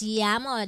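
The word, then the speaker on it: llamo: amo ano miamo may Yamo Mama No you pronounce Yamo dou L is pronounced L mo Villa Villa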